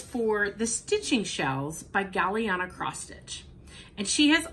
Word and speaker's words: Galliana: So to be eligible for this giveaway, you are going to say Galliana in your comment. Galliana is spelled G-A-L-L-I-A-N-A.